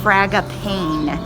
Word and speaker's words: Fragapane: it was cute inside fraga pain that's how you say it fraga pain i asked